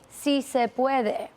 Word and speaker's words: si se puede: If you're going to pander, at least learn how to pronounce the words. It's si se puede.